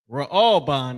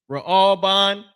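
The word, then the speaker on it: ראובן: Raalban is how you pronounce that in Hebrew. Raalban.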